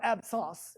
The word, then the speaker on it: absence: probably mispronouncing it but it's not absence seizures its app seizures got it if you call them absence seizures no one's gonna know what you're talking about you can pronounce it that way in your brain but they are called ab sauce seizures I'm not lying to